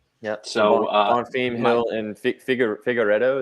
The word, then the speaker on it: Figueiredo: So Bonfim, Hill, and Figueiredo. Is that how you say it? Yes. Yeah.